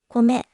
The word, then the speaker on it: 米: Cara baca Onyomi ベイマイメートル Cara baca Kunyomi こめよね Contoh pertama お米 dibaca お米 artinya beras.